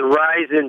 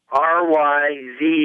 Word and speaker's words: Ryzen: It has a Ryzen 5-core processor. I never heard of Ryzen. That's the way you pronounce that.